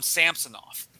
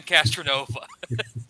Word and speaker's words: Castronova: First time I heard his name, I butchered his name. I call him Samsonov. Nowhere near Sam Castronova.